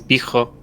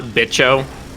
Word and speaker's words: bicho: I'm assuming it's pronounced like that and not bicho. That's how you say it in Texas.